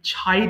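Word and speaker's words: chide: slip ছয়ের তিরস্কার করা অর্থাৎ আমরা যে আমাদের শব্দের শুরুতে সি এইচ পেলে আমরা ছ উচ্চারণ করব চ ছ ছ উচ্চারণ করবেন এতদিন চাইড বলতেন এখন থেকে ছাইড উচ্চারণ করবেন ছাইড তিরস্কার করা ছাইড ছিট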